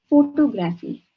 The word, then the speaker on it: photography: photography is for photography we have to break it into three pieces when we pronounce the word instead of saying photo